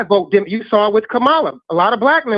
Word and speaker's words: Kamala: Kamala, sir, the correct pronunciation, Kamala.